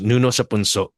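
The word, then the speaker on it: Nuno sa Punso: So it's pronounced Nuno Sapunso, and and this one right here definitely what it was not relegated to the rural areas.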